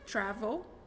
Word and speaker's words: travel: é uma palavra curta Travel duas sílabas mas que se você repetir esse último L Travel é viajar no